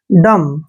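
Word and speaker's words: dumb: नहीं होता है देखिए जब भी बी से पहले एम आता है तो हम वहां पर जो है बी का प्रोनाउंस नहीं करते हैं इसको हम सिर्फ डी यू को ड पढ़ते हैं और एम को म डम क्या पढ़ते हैं डम डम डम नहीं डम डम होता है दोस्तों गूंगा व्यक्ति ठीक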